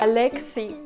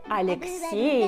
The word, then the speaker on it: Alexei: In Russia, it is a really popular name, and we pronounce it as Nikolai, or for short, Kolya. Alexei. No, Alexei.